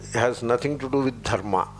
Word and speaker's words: dharma: But in Hindi, dharma, they make it that the syllables are rearranged. Dharma becomes dharam, that I is pushed there, and dharam. Sanyukta aksharas put a vowel in between. Dharam or dharma.